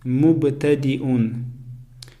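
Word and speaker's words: مبتدئون: Первое слово мубтадиун, мубтадиун. Точно так же я не произносится, потому что над буквой я стоит хамза, а хамза читается как алиф.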